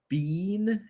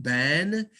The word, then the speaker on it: been: the the difference between bean and Ben there's no difference other than who is pronouncing it so Americans pronounce it Ben British people Australian people say Bean it's it's it's the